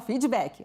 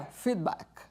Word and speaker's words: feedback: Aqui no Brasil a gente fala feedback, né? Mas seria feedback, a pronúncia correta.